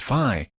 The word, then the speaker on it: phi: by the greek letter phi pronounced phi rhymes with pi in his pursuit of